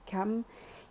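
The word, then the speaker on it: Cham: Et ouais, dans la Bible, il parle de la tribu de Cam, qui s'écrit C-H-A-M, mais pourtant ça fait bien référence à Cam, qui est le diminutif de Kama.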